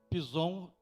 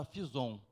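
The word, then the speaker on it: Pisom: o primeiro braço chama-se pisou mas na realidade isso aqui era visão porque antigamente a escrita era com ph né então a pronúncia era a visão é o que rodeia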